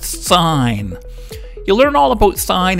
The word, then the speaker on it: sine: It's spelled S-I-N, but it's actually pronounced sine.